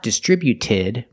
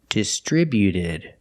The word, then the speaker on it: distributed: When we add ed, the T at the end is between vowels, so it's a fast D. Not distributed, but distributed. Distributed. Put the stress on the second syllable only.